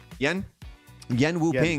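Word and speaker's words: Yuen Wo-ping: Yen Wu-ping.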